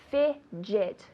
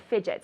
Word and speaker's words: fidget: a J in English fidget good fidget so I say stop fidgeting right your mother tells you ah stop fidgeting stop fidgeting okay careful with that pronunciation the d g sounds like a j very good the second